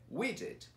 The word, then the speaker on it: widget: E tem então colocar o get aí no meio. Então não é, é widget.